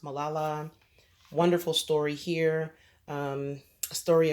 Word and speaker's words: Malala: This here, I think her name is pronounced Malala.